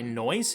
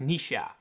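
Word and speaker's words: Noish: I have been calling this guy noise the entire time turns out is actually pronounced Nisha.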